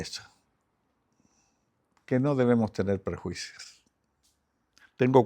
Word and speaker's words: prejuicio: Has tenido perjuicios. La trampa de los perjuicios. ¿Eh? Prejuicio. Sí, lo tengo bien escrito, pero lo he pronunciado mal.